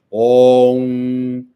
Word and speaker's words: om: Falar que o mantra é on, não é on, é om.